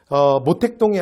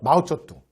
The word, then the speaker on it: 마오쩌둥: 그 다음에 모택동이 아니라 예를 들어 마오쩌둥, 등소평이 아니라 떵샤오핑 이렇게 발음해줘요.